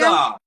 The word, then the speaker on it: Micah: Oh, pronounced like in the Bible. Ma- How do I pronounce it? Micah? Is it Micah? Micah. Oh my God, like the book of the Bible.